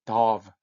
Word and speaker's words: dove: 카타콤에서 발견된 그 그리스도인들의 그 벽화에 나타난 어떤 그 모티프, 상징들이나 이런 것들 보시면 피커크, 공작새, 이건 도브 아니고요. dove.